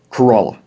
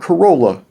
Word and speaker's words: Corolla: a kid that it was scuppered scuppernon skeppernon kerala not corolla kerala pantego and pantico pantego and just south